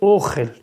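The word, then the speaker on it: אֹכֶל: Alors ici le mot ochel, il faut le lire ochel. L'accent tonique sur le o.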